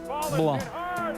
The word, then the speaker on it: Blum: Still bottom third, this time Jeff Blum. Rhymes with plum, rhymes with home run.